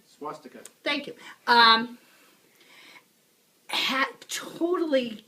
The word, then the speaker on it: swastika: Reich the symbol of the swatchika and pronouncing it wrong say Jim swastika thank you um hat